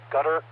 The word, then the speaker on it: Qatar: to realize what country they're talking about, but gutter is a common pronunciation.